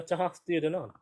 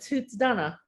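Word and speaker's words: Tuatha Dé Danann: your knowledge of the tahaf theodona uh oh we call it toots donna okay isn't that yes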